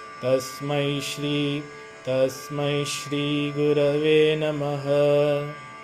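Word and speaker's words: तस्मै: Remember, many people in the West they say Tasmai eh. It's not but I. Tasmai Shri Tasmai Shri Gurave Namaha.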